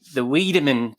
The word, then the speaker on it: Wiideman: So you founded the Wiideman Consulting Group. I've pronounced that correctly, haven't I?